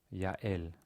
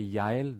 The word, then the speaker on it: Yael: If you say Yael, the two vowels create a diphthong where there's no stop in between Yael. But if you say Yael, right? Yael, there's a stop between.